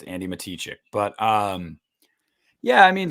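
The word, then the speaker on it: Andi Matichak: pronounced her name wrong her name is pronounced andy matichek um yes busta um she i i i used to i gotta get out of culinary andy mata check it it's andy matichick but um yeah i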